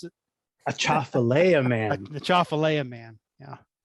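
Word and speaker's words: Atchafalaya: Tell us again, Karl, how you pronounce it. A Chafalea Man.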